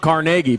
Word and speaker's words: Carnegie: know where that's at that's how it's pronounced carnegie by the way 176